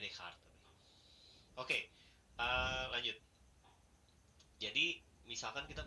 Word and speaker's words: Descartes: Belakangnya Cartesius. Bacanya Descartes.